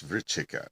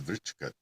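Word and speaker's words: vṛścika: And in transliterated Indian Sanskrit, C is always pronounced ch, because you have a K for the other sound.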